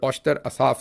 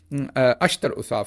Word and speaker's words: अश्तर ओसाफ: जो हैं वो भी अश्तर ओसाफ साहब उनका नाम है आई एम सॉरी औश्त कह दिया मैंने अश्तर ओसाफ साहब मुश्किल नाम है इसलिए प्रोनाउंस गलत कर गया शुरू में अश्तर ओसाफ